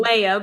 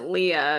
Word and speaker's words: Leia: She was actually named Leah, well, like Mm, Leia, but I pronounced it Leah because I was 6.